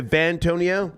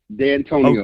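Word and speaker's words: Dantonio: Van, as in Victor Vantonio? D as in David. D'Antonio.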